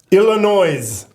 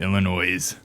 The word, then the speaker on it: Illinois: nothing guy, but you you got to say it right. It's Illinois. It's uh Illinois." Yeah. You know, you are right on that. Illinois.